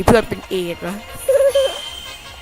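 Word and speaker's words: Ace: เพื่อน เป็น เอดส์ เนาะ เพราะ ว่า ชื่อ มัน แปล ว่า หนึ่ง เหมือน ใน ไพ่ อ่ะ เรา เรียก ว่า a อ่ะ มัน ก็ อ่าน แบบ เดียว กัน แหละ แต่ สำเนียง ญี่ปุ่น มัน ออก เสียง ว่า เอส มัน จบ แล้ว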